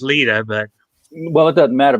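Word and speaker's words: Lyta: characters and daniel and lyda um i think it's pronounced leta but well it doesn't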